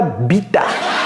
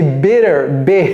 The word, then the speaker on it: better: pas bita c'est pas c'est pas bita c'est better better et c'est même pas B c'est pas i c'est un on appelle ça short e short c'est court ok c'est la moitié du I better better five F